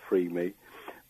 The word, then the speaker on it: FRRME: our website which is f RM org we pronounce it freed me but it's F double RM e dot org